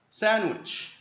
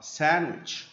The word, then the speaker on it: sandwich: bagels bagels bagels bagels sandwich. الدي هنا مش بننطقها. sandwich sandwich sandwich cereal cereal cereal.